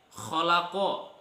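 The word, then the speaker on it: خَلَقَ: Disinilah fungsi kita mempelajari ilmu tajwid supaya kita tahu cara membacanya. Contoh yang lain, kholako.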